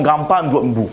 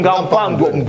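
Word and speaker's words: Ngapandouetnbu: Ok, je vais vous aider. Simon Gapangwedbou. C'est voilà. Je vais vous aider. C'est ça la prononciation. Simon Gapangwedbou.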